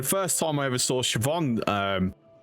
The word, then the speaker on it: Siobhan: Yeah, when I first, before someone like told me, I looked at that, it was like, oh, Sioban? That's an interesting name. Like, no, that's not how you pronounce it.